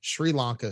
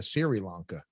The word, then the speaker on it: Sri Lanka: chad you know i i think your problem is uh pronunciation like you're calling uh sri lanka siri lanka yes siri the podcast